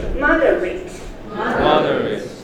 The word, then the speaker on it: moderate: In addition, moderate. ate 的发音，如果是动词才念 ate，如果是形容词或名词念 it。Moderate.